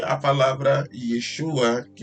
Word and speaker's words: Yeshua: V dizer Yeshua né Há quem diga que é yoshua mas Yeshua ou Yeshua são as duas melhores formas de se pronunciar Eu normalmente falo Yeshua tá que é uma